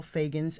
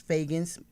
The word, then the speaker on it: Feagins: I think you can find me under Fagans, and that's Fagans, well, MICHELLEFEAGINS.